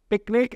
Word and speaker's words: PQNK: Pronounced पिकनिक एज इन हम पिकनिक करने जा रहे हैं, पर इसकी स्पेलिंग PQNK होती है, पायदार कुदरती निज़ाम काश्तकारी।